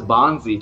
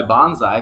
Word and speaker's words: Bonzi: b-o-n-z i and uh bonzi wells and he didn't go by bonsai because it's not how you pronounce b-o-n-z-i all right then mystery